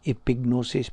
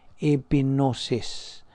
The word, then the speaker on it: epignosis: Oh SAS who immigrant he pronounced epignosis Pro silent G epignosis can my own and